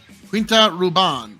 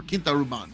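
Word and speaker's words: Quinta Ruban: whiskey Port Cask finished Quint Ruban or Kint Ruban depending on how you like to pronounce that 12 years single malt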